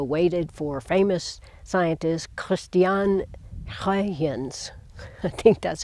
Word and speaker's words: Huygens: The first detailed observations, though, waited for famous scientist Christian Huygens, I think that's how you pronounce it, a Dutch astronomer, in 1659.